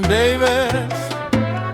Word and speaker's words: Davis: My name is Davis, which only rhymes with navies.